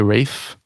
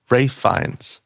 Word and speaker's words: Ralph: I say Rafe. That's it. That's what it is, right? All right. Good. I say the I say the right version in real life. Rafe.